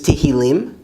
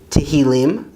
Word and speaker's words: תהלים: Psalms is Tehillim, Tehillim, Psalms.